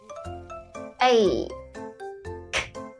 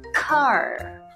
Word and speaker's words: car: ta sẽ đọc là car. Car. C-A-R. Car. Các em hãy nhớ là cong lưỡi. Car. Chúng ta không đọc là ca nhé, mà là car.